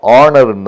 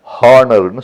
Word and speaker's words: honour: அதே மாதிரி ஆனர், HONOUR, அது ஆனர்னு தான் சொல்லணும், ஹானர்னு சொல்லக்கூடாது.